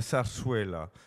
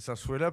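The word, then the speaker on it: zarzuela: pas ce qu'est la sarsuella la sarsuellaa pour lequel j'aicé un livre donc on peut-être le dire alors ça s'écrit Z Z là ça se prononce sars là et c'est on va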